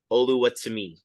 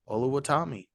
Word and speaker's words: Oluwatimi: It's Olusegun Oluwatimi. Oluwatimi.